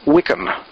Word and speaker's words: WCM: sometimes referred to by its acronym wcm that is pronounced as Wickam web content Management Systems